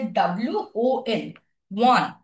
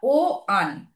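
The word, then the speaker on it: one: ওয়ানের আমাদের উচ্চারণটা কেমন হচ্ছে, যেন বলছি যে WON, ওয়ান। আমরা কিন্তু বলছি না ও আন। ও আন বলি আমরা, ও আন কখনোই বলি না, আমরা বলি ওয়ান।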